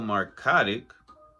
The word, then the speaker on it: Markotic: Nicole Markotic, it's a crazy name that it rhymes with neurotic, argued that the film